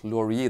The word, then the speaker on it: Lorier: a good find and my pronunciation of laurier is french which is correct despite the fact that